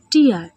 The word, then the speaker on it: tear: TEAR, টিয়ার এবং টেয়ার এই শব্দটির দুটি উচ্চারণ হয় এবং দুটি উচ্চারণের ভিন্ন ভিন্ন মানে। প্রথমে টিয়ার, টিয়ার অর্থাৎ চোখের জল বা অশ্রু। দ্বিতীয় উচ্চারণ টেয়ার, টেয়ার মানে ছিঁড়ে ফেলা বা হারা।